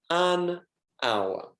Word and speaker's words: hour: For example, hour is an hour because the H is silent, so the vowel sound is used, an hour.